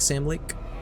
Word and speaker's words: Sam Lake: And his name rhymes with Alan Wake. Alan Wake, Sam Lake.